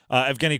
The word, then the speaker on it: Evgeny: Evgeny Kuznetsov. Kuznetsov. Oh, Evgeny, E-V-G-E-N-Y. Correct. Kuznetsov, K-U-Z-N-E-T-S-O-V. Correct. Kuznetsov is actually spelled fairly phonetically.